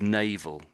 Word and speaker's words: naval: So maybe this word here in English we say this is naval.